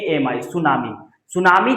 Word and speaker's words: tsunami: जो कि गलत है सुनामी के शुरू में टी लगा देना इसमें टी साइलेंट रहता है टी एस यू एन ए एम आई सुनामी सुनामी जो है जापानी